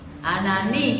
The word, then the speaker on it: Ananí: Ananí, con acento en la última I.